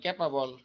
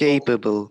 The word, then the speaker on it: capable: উচ্চারণটা এই, হ্যাঁ, capable, যেমন আমরা বলি ক্যাপাবল, কিন্তু আসলে কি হবে capable, এই able, কেপেবল।